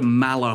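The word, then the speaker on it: Maller: First of all, it uses the Mala hull, and yes, it is pronounced Mala, a hull that I think looks absolutely stunning,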